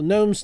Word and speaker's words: gnome: and uh of course the gnome's name is spelled with a silent G on the front Jose Farah rookie card Cade